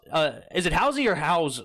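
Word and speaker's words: Howze: is it spelled h-o-w-z-e i'd say howls you say how's or is it house-y alright he's going to tell me in a phonetical it's the second so howell's house is how you pronounce it okay so you were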